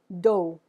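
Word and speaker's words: dos: We have first, do. Now, if you're looking at this word, you can see it's spelled D-O-S. I'm not pronouncing the S. I'm only pronouncing the D and the O.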